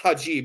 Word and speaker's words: hijab: the your high jab it's pronounced hajib you can spell it either way take the jab and